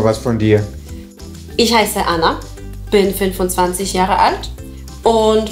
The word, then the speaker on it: Anna: Anna. Genau. Beide N werden ausgesprochen. Im Deutschen hingegen wird das N eher verschluckt.